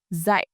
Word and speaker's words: dạy: The verb dạy, to teach, is pronounced dạy.